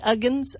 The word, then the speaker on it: Uggams: the most wonderful thing I took it's lesie ugens am I pronouncing that right Uggams lesie Uggams yes well she is just so precious and